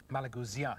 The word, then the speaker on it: Malagousia: Malagousia, you pointed out that Yeah. the accent is on the last It's syllable.